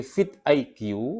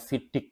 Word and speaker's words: vidIQ: jumlah video kita diperbanyak trik dari fit IQ atau saya bacanya Biasanya fidik karena tulisannya memang vidiq biasanya orang bacanya Fit IQ atau fit begitu tipsnya adalah kuantitas lebih